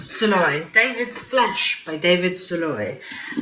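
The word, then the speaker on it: Szalay: Is David Soloi. Is that correct? Am I pronouncing it? You're pronouncing it very well. Soloi.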